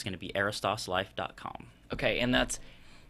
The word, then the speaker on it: Aristos: but it's gonna be Aris toss life calm okay and that's so you want to spell that okay a RI st OS okay life almost like Aristotle Oh what I was